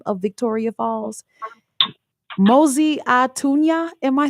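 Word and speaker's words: Mosi-oa-Tunya: And the first person to correct me with how to actually pronounce the original name of Victoria Falls, Mosi Atunya.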